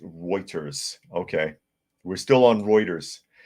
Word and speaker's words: Reuters: Anarchy says, Das ist Reiching, pronounced Reuters.